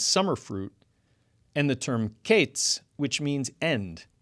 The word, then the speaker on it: קץ: The term Qayitz, which means summer fruit, and the term Qetz, which means end. Now in the north, as opposed to the south, both summer fruit and end were both pronounced Qayitz.